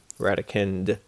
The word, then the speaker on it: radicand: is called the radicand radicand we don't actually pronounce the last D this number right here